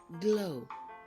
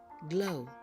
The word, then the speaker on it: glow: O for example Arrow glow you don't really hear the W sound in these words I'm going to say them again and please repeat after me Arrow glow great job now now